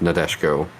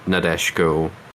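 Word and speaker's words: Nadeshiko: I looked maybe it's I guess the vowels kind of get dropped a little bit more than maybe I'm doing yeah I've been pronouncing it before syllables like not dashiko which I guess is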